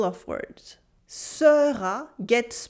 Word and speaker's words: sera: The weak unstressed E sound get skipped a lot in French. Here, for instance, we have this weak E sound in the middle of words. Sera gets pronounced sera, sera, sera.